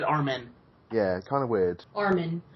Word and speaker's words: Armin: main characters is named Armin but they pronounce it our men yeah kind of weird